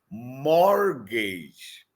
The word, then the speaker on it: mortgage: t g a g but T is silent you have to say it morgage morgage more more they